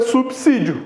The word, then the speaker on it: subsídio: porque ele não existe você fala sub isolo não você fala subsolo então é subsídio Ok vê lá que